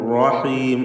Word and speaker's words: الرحيم: ബിസ്മില്ലാഹിർ റഹ്മാനിർ റഹീം. റാ തടിപ്പിച്ച് തഫ്ഖീം ചെയ്ത് ഉച്ചരിക്കുക എന്നത് ശ്രദ്ധിക്കുക. ഷദ്ദുള്ള റാ ആണ്. അതിന് തക്രീർ കൂടുതൽ വരാതെ ശ്രദ്ധിക്കണം. അർ എന്ന വിറപ്പിക്കൽ വരരുത് എന്നതും ശ്രദ്ധിക്കേണ്ട കാര്യമാണ്.